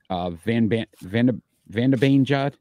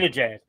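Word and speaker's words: Zibanejad: Van de Beanjad. I always say his name wrong. Zabinajad. Zabinajad. Zabinajad, 22 goals.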